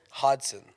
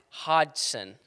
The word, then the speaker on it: Hodgson: Hodgson. Hodgson. There's no G. It's like hot, but like Yeah, exactly.